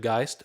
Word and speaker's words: Geist: mean by rip is not much accent on the g of geist let the sound start and then let it blossom make sense i